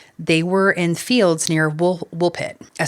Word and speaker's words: Woolpit: They wandered through the darkness and when they finally came out, they were in fields near wool wolf pit.